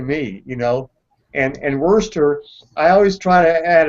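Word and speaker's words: Worcester: or whatever but it looks like it would pronounce ler to me you know and and Worster I always try to add a add an extra syllable so it's like Worchester or something but uh but uh anyway he's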